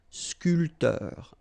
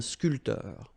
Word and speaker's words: sculpteur: This P here is not pronounced. So sculpteur, un sculpteur.